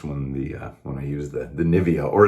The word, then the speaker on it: Nivea: when I used the Nivea, or as someone from Germany said, we pronounce it Nivea, and so my pronunciation sounded weird. So that's how we pronounce it here in America.